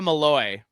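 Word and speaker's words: Malloe: So, defense, we've got defensive coordinator Ikayika Mallaloy. And I had to read a bunch of articles. It's not spelled Malloy, but it's pronounced Mallaloy.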